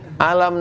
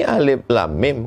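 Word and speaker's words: ألم: Kalau dari PDF, alama, alam nasrah dengan alif lam mim sama tulisannya. Syekh Muhammad Mutawaili Sya'rawi pertama tahfiz Quran kan gitu, dikomplainnya gurunya. Tunjukkannya. Ini alif lam mim, kenapa di sini bacanya alam?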